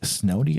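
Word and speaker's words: Snody: first design with a Custom Knife Maker Mike snowy I'm sure I pronounced that wrong it's s n o d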